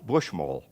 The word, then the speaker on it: Buschmole: to say your name my name is bushmull and my final message to you is this this comes down to the last syllable to make a lot of money if